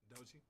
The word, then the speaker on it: Doechii: I don't know how to pronounce her name. I think Dochi. Yeah, that's it. Dochi.